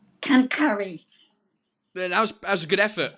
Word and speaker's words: quincaillerie: So we've got the French word quincaillerie that you have to pronounce. Cancari.